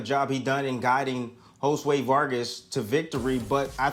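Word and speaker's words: Josué: show improvement or III said Joe sway Vargas because I wrote it down phonetically for me but kept the J instead of saying Josue Vargas sorry about that Tim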